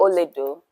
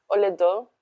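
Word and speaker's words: Olaedo: Olodo. Oledo. That means gold. Gold. Yeah, that's my spirit color. No way. What's How do you spell that? Um, is hola and ado. Hola.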